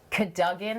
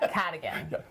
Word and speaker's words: Cadogan: Cadogan Hall, that's how you say it, and I've learned that.